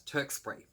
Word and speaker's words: Tewkesbury: But where they end up going is this place that I could be pronouncing this incorrectly, but I pronounce as Tewkesbury.